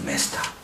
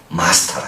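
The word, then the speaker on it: master: 메스터. 주제이신 메스터. 우리의 메스터. 영국 가니까 메스터라 해가지고는 싫어합니다. 마스터라 해야죠. 마스터. 악토르. 액터였다 싫어. 악토르. 마스터. 영국 사람들은요, 미국식 발음하는 사람을 싫어하더라고요.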